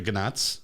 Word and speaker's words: gnats: I was talking about the gnats. Oh, gnats? Gnats. Oh, the G is silent. It's silent. Like pneumonia.